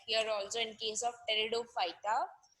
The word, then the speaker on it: Pteridophyta: So it is somewhat like here also in case of Pteridophyta, where P is silent everywhere, giving us so many new things in this member of the plant kingdom.